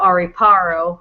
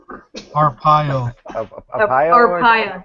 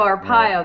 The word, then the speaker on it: Arpaio: got to meet sheriff joe ari paro how do you say it jim arpaio yeah sheriff joe arpaio that's how i got